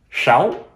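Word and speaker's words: sáu: in vietnamese when uh the letter s is pronounced more like sh sound that's one reason why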